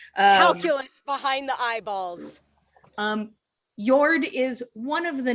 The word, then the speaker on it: Njord: they did not specifically they said njord i thought yeah they said they said yord oh the names are very similar yes they are i thought that i had missed a syllable nope it is yord oh who's who's yours